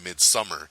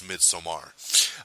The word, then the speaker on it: Midsommar: you off, it's because the director himself said no, the film is pronounced Midsommar, but a lot of people are saying Midsummer. So I just want to state it for the record, it's Midsommar, which I'm actually looking